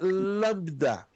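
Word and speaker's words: λάμβδα: Essa é a letra lambda. Então, ela tem um som de L.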